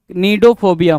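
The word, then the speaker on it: cnidophobia: Next की बात करें 43 नीडोफोबिया क्या? सी साइलेंट करोगे नीडोफोबिया बोलोगे उसको क्या बोलोगे नीडोफोबिया नीडोफोबिया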